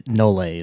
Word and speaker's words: nolle: Or you can say nolle pros. Sometimes cops will say that because, again, we're ignorant and we don't know Latin either, but it's the nolle is how you actually pronounce it.